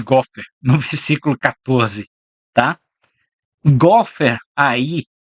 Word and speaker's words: gofer: Palavra em hebraico, nós pronunciaríamos gofer.